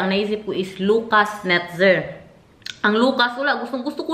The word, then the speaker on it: Netzer: Kaya ang naisip ko is Lucas Netzer.